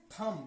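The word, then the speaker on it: thumb: पढ़ा नहीं जाता है तो इस बी को नहीं पढ़ेंगे अब पढ़ेंगे क्या टी एच य एम बी थम क्या पढ़ेंगे थम पढ़ेंगे थम जिसका मीनिंग होता है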